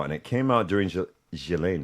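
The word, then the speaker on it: Ghislaine: it came out during Gilain Maxwell I believe is the way the proper way to say Galileain Maxwell's case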